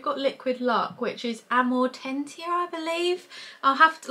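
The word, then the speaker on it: Amortentia: for example we've got liquid luck which is amor tentier I believe I'll have to like I can't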